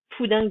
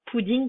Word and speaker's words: poudingue: On prononce poudingue et pas pudding, comme on entend souvent au moment des cols.